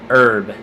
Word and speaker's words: herb: Herb. The age is silent. In the name Herb, short for Herbert, it is not silent.